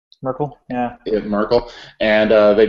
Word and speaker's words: Merkel: and I think they went after I you pronounce her name the the German did German Chancellor Markel Merkel yeah it Merkel and they duplicated her fingerprints